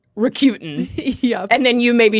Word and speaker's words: Rakuten: The thing that I know is definitely wrong is the Q, like Q as opposed to coup, right? Being a syllable in there. But they did commercials at one point, and I believe that it was pronounced in those like Rakuten.